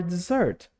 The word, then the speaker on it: dessert: And for dessert, Olha só, cuidado para não confundir com deserto, tá, pessoal? Com deserto é um S só. E como a gente pode ver aqui, tem dois, que é a sobremesa. E lê com som de Zzinho mesmo, tá?